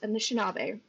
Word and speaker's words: Anishinaabe: But for the, I know I just asked how to pronounce this, Anishinaabe, right?